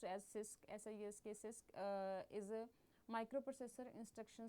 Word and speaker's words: CISC: A complex instruction set computer pronounced as CIS sys uh is a microprocessor instruction set architecture is